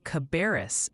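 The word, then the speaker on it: Cabarrus: Folks in Cabaris County, NC want to hear Cabaris and it's Juniata for Juniata County, PA.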